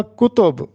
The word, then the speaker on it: کتب: ہوگا کلی قطب شاہ۔ کتاب کی جمع کتب ہوتا ہے، ہم نے کتب خریدی، تو یہاں پر تلفظ ہوگا کتب، کاف پہ بھی پیش اور تے پر بھی پیش، تو کتب۔ لیکن کلی